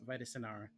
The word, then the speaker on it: Vitara: vus uh sinara now Scott changes the the name of vus like multiple times or how he pronounces the name and I don't remember how he does it by the end but it is Vitara um and Vitara is